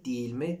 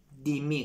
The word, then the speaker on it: değil mi: « değil mi» که در مکالمه دیگر «değil mi» تلفظ نمی‌شود، به صورت «değil mi» (dei--mi) گفته می‌شود؛ یعنی به جای «değil»، از حرف «d»، فقط یک حرف، استفاده می‌کنید.